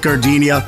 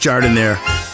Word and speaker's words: Jardiniere: Hey guys, when you're at the counter, don't call it gardenia. It's pronounced Jardiniere.